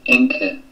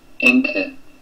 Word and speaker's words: Encke: And for those of you who think that I am not pronouncing this correctly, we'll get that out of the way. Encke. Encke.